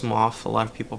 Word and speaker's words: Smough: it is actually pronounced SMF a lot of people pronounce it Smo or smog but it's actually smof it's exactly like uh the guy in the new continent his name is Goff you'll actually get to